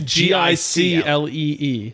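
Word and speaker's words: giclée: It's not intuitive at all because I look at it and I see glycee, but that's not it's it. not. It's Giclee. Yeah. Jiggly, as I believe how it's pronounced.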